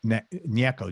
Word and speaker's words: Gnecco: background on jimmy it's it's i'm going to pronounce his last name neko but it's it's g-n-e-c-c-o all right so it's jimmy nieko g-n-e-c-o all right he's an artist who sings